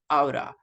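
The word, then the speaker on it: ought: everybody is outa okay the pronunciation of this one is outa please can you help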